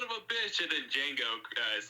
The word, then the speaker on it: Django: And he's like, and Billy Crash, and just like in pain, and he's just like, Django, you black son of a bitch. And then Django is like, the D is silent, hillbilly.